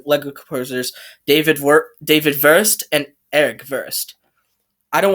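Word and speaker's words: Wurst: want to say like worst because you know if they're german i have to say first because that's how the pronunciation goes they say their w's like v's first zane's face has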